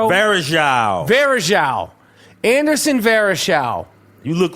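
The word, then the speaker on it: Varejão: Varejao.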